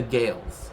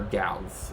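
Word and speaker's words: Gaels: of the uh Celtic speaking peoples right The gales right or or gals I mean it depends the pronunciation of the person but it's usually Gales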